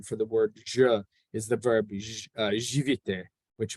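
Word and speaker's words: Ж: going through it, and it's pronounced Je.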